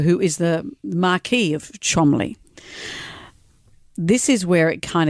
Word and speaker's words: Cholmondeley: But it's pronounced Cholmondeley. It's so English.